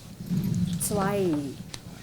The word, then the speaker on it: zwei: So anywhere you see this A on the E and I, yeah, it is always I, like I, yeah.